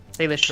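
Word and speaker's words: Salish Sea: Salish She. Correct. Yeah, there's Okay. the Salish She, that's around Seattle, and then below that is the Cheer Tangier.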